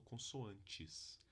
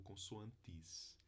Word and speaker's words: consoantes: sílaba a gente tem no meu dialeto eu falo consoantes mas no Brasil é possível ter pessoas que falam consoantes ou com suantes pode ter pessoa que fala consoante né então tem variação de